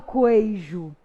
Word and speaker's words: queijo: Eu não falo queijo, eu falo o quê? Queijo. O U não é pronunciado.